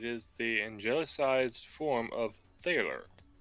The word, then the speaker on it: thaler: It is the angelicized form of thaler, pronounced Taylor with a long A.